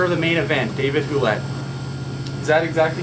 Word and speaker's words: Hulett: really say my name we say we say huet oh H but up here you guys probably say right honestly I don't know